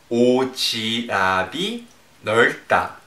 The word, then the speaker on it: 오지랖이 넓다: 発音は、オジラビ・ノルタ。